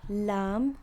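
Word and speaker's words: لام: welcome and then there's uh lam which is just l right it even slightly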